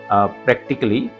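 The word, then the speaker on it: practically: सो ये ए यहाँ पर साइलेंट है प्रैक्टिकली, नॉट प्रैक्टिकली, प्रैक्टिकली।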